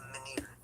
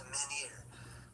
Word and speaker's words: menhir: I'm not sure exactly how to pronounce it, but I believe it's menhir.